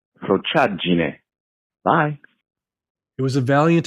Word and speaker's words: frociaggine: The word is pronounced Prochadjine.